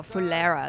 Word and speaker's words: Phulera: Oh, Phulera, that's how you say it.